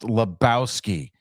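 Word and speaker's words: Lebowski: dude dude stop oh my God the it's pronounced Labowski okay we know which Labowski you are laow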